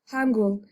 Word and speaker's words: 한글: So reading Hangul is actually easy. Hangul. I'm sorry. I pronounced it like an American.